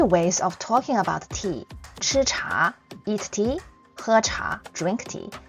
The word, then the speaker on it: 吃茶: So, this is how you write 吃, and follow me with the pronunciation. 吃茶, 吃茶.